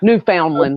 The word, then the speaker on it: Newfoundland: Newfoundland. Okay. Listen to me. It's spelled that way, but it's Newfoundland. Newfoundland, just like the dog.